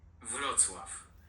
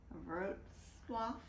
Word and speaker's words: Wrocław: It's spelled W-R-O-C-L-A-W. Wrocław. We will probably just call it Wroclaw, which is how we would pronounce it, but it's really, as you heard, Wrocław.